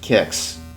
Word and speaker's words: Qix: one and once again yes it is pronounced kicks just stupid now God